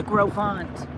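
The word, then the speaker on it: Gros Ventre: this mountain range here this is called the grant okay and it's spelled gross Venture in English and we didn't find that out until about 6 months after we were up here that it is Grant and um and it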